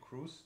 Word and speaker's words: Kruse: am I pronouncing your your last name properly Cruz Dr Cruz it gets pronounced lots of different ways awesome so um